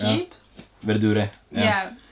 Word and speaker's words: verdure: Verdure. Yeah, it's In cheap. Italian, you so- pronounce the E. Yeah. Oh, okay. Yeah, so yeah, I guess Verdure is my favorite.